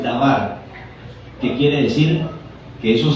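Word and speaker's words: דבר: tiene que hebreos y se pronunciar en hebreo es davar que quiere decir que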